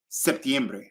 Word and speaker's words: septiembre: weird okay but in the cool thing about Spanish is that you get to pronounce every single vowel most of the times 95 of the times you're not blending vowels you're literally giving it each and every vowel you're giving it its